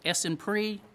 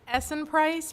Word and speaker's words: Essen Price: Did I say that right, Miss Essen Pre? I'm sorry. How do you say that? Please tell the public how you say your last name. It's Essen Price. Price like the price tag.